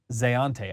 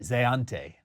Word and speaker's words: Zayante: Zeante. I'm going that's how I'm going to pronounce it.